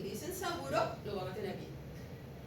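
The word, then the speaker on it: Sabouraud: Juan, es el medio, se pronuncia saburo y se escribe así, en francés. Sabura. Si ustedes en un examen le dicen medio de cultivo de hongo y dicen saburo, lo van a tener bien.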